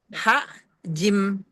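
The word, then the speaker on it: الحج: Ini sebenarnya karena ada tasdid jadi ha jim ee yang jim pertama mati, jim keduanya baru fathah tapi ditasdid. Jadi nanti bacanya lebih murakab itu ee apa namanya ee qalqalahnya kubra tapi lebih ee tebal lagi. Lebih ada dua gitu. Jadi begini, fil haj gitu, fil haj gitu kayak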